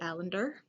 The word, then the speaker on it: Alender: So the next book review I got is called The Companion by Katie Alender. Kind of rhymes with calendar.